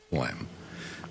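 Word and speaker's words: phlegm: to get rid of flem. But anyway, isn't it flem a funny word? That's a great I mean, it's it's not it's spelled but not like it sounds.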